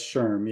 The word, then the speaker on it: SHRM: it wrong um SHRM how do I pronounce that shrimp that's that's Sherm yeah sure sure that's